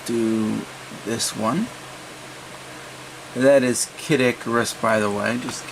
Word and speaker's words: Kid Icarus: i think i'll do this one that is kid icarus by the way just in case you wanted to know that's how it's pronounced in japanese open that up and you're